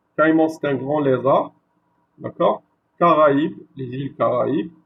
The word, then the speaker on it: Caraïbes: Donc il divise la tonalité ou la sonnerie du mot.